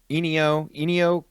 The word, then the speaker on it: Ennio: Ennio.